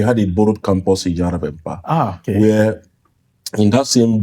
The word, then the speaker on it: Järvenpää: So the way you pronounce the Järvenpää is I remember.